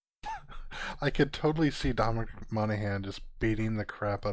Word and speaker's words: Monaghan: Is that how you pronounce his name? Monaghan.